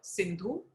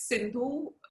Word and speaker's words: Sindhu: So this is Sindhu River, and the Persians couldn't pronounce it as Sindhu, and hence they couldn't pronounce the S, and so it became Hindu.